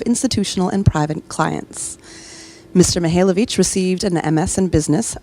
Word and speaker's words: Mikhailovich: Mikhailovich. Perhaps you do better. Mihailovich. The K is silent.